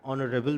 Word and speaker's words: honorable: So it's going to be an air, H is silent, an hour, H is silent, an honorable man, H again is silent.